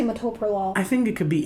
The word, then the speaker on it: metoprolol: for no reason too metropolo like it's not that is it metaprolol meta bio no it's metoprolol it's metoprolol that's how i say people people correct